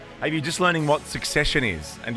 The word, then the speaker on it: Succession: Are you just learning what Succession is? And you pronounce it secession, like so many people do.